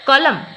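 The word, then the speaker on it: calm: गुजिबा which letter is silent in the word कलम इन pronunciation त कलम रे कलम पढ़ूचे नो साउंड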